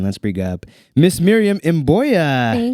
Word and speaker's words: Mboya: I was I was looking at it and I was like, "I believe it's Mboya." But it could be a different pronunciation. Mboya is perfect.